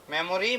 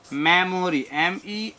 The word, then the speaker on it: memory: মেমোরি, মেমোরাইজ, এই যে মেমোরি, MEMORY, সঠিক উচ্চারণ আসলে মেমোরি না, সঠিক উচ্চারণ হবে মেমরি, মেমোরি plus ISE, মেমোরাইজ।